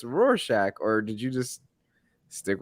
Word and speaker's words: Rorschach: i read it and i i was like roars chach i might have like said it to to like a a parent or uncle or something who was like oh it's pronounced rorschach and i don't know okay okay okay i